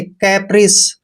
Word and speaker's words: caprice: सी का उच्चारण से करेंगे। कैप्रिस। दोस्तों कैप्रिस मीन्स होता है मौज मस्ती।